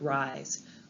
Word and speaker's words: Ries: great definition from author Eric Rhys or Eric Ries I believe is how he pronounces his name Eric says a pivot